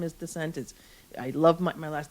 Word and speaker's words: Dicent: So the original pronunciation of Dicent is actually Dicent. And so it has a French background.